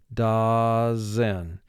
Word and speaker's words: dozen: in the carton dozen we need to exaggerate the first syllable and say da which has two sounds three sounds da zen mark the word da zen so for speaking we